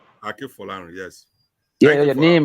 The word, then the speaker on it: Akinfolarin: Is that a pronunciation? Yes, Akinfolarin. Akinfolarin.